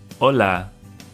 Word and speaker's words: hola: So the letter H, when it's by itself, makes no sound. Hola, hoy.